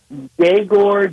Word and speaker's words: Yegor: Is that E kind of pronounced as a Y? Is that what I'm hearing from you for his first name? Yegor Demin is what I believe the pronunciation.